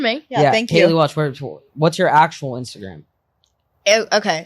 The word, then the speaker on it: Welch: You say Welsh or Welch. Welch? Welch. Welch. WELTCH. Welch. No, it's just WELCH.